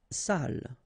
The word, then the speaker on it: salle: Salle. Une salle. Okay, so even if you get the double L here, it will be still the same pronunciation as this one.